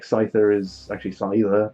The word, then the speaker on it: Scyther: Like Scyther is actually Scyther because it's a scythe.